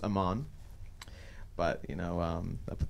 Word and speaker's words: AMVN: on a amv and don't music so it's pronounced Amman but you know up at the VM there's